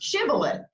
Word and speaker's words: Shibboleth: So it's really pronounced Shibboleth.